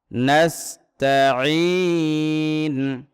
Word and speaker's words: نستعين: নাস্তাঈন, ইয়াকা না'বুদু ওয়া ইয়াকা নাস্তাঈন। মদের হরফের পরে আমরা ওয়াকফ করছি, এই জন্য এখানে 3 আলিফ টান দিয়েছি।